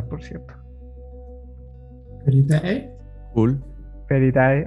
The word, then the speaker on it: Felidae: Feridae, ajá, así se escribe Feridae, como suena. Como Feli de felinos y Dae como la Dae, ah, perdón.